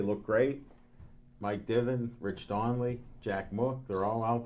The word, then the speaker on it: Donnelly: Rich Donnelly, that's how you pronounce it.